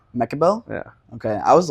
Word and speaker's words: Mekibel: know who you are how do you pronounce your last name mechael mechael yeah okay I was like going over to